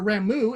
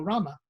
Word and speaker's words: Rama: Rama, or Ramu, as I always pronounced it for years, but supposedly it's pronounced Rama, is named after the